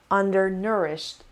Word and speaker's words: undernourished: i mean undernourished undernourished undernourished the stress is under no so it it's the third syllable the stress is on the third syllable undernourished undernourished means not